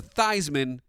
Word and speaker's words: Theismann: be the Candyman and Joe Theismann quarterback changed his pronunciation to Theismann to rhyme with Heisman but the true polish